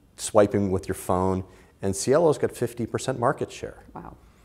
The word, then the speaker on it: Cielo: and I'm not sure I'm gonna botch the pronunciation. Is it Cielo or Cielo or Cielo? Cielo.